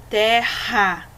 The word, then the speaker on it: terra: Ou seja, essa palavra escrita com dois R's, nós vamos sentir o R tremer na garganta, porque ele é um som mais forte, ó. Carro, terra.